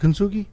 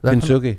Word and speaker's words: Kintsugi: Is it Kintsugi? Kintsugi.